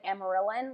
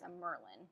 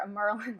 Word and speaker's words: Amyrlin: In my head, I always said Amarylline, like from when I was really young, and so that is often what I say, but I know that's not how you say it. I think it's a Merlin.